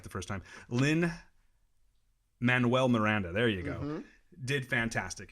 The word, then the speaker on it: Lin-Manuel Miranda: Emily Blunt did fantastic in it and again Lynn Moran Lynn I could never say his name right the first time lin-manuel Miranda there you go did fantastic in this movie